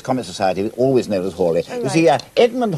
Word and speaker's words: Halley: In the Halley's Comet Society, always known as Halley. Edmund Halley was the second astronomer royal, and you probably pronounce his name Halley, not Halley, and certainly not Halley.